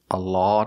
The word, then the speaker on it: a lot: a lot of food a lot of food the vowel is a short a like hot and stop not the sound a like law and automobile but the sound ah a lot of a lot of a